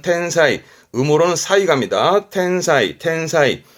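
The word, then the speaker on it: 天才: 발음은 텐사이.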